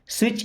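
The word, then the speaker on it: switch: Okay, स्विच इट ऑन, देखिए यहाँ पे टी साइलेंट।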